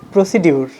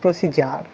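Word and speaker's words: procedure: It's আমরা এটাকে বলি প্রসিডিউর। আমরা অধিকাংশ সময় বলি প্রসিডিউরটা বলেন, বাট ইটস নট প্রসিডিউর, ইটস প্রসিজার। কি বলবেন এখন থেকে?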